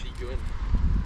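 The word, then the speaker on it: Hendy-gwyn: Brandon, how do you pronounce this one in Welsh? Hendy Gwyn.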